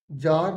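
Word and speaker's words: Tsar: तो आप जानते हैं जार निकोलस सेकंड था वो ये टी साइलेंट इसे जार बोलेंगे ठीक है तो बी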